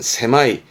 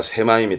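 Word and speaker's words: 狭い: 강가에 그런 편협한 사고를 쓰겠죠 형용사 아주 중요합니다 발음은 세마이 말 그대로 좁다 세마이 좁다 세마이 고통 고짜 있지요 그럼 발음은 세마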